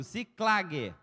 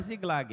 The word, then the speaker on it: Ziclague: Ziclague, fala comigo, Ziclague. Não é Ziglag, é Ziclá, com C. Ziclague.